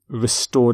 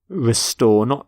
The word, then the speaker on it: restore: Restore peace. Restore democracy. Note the pronunciation of restore, not restore, but restore.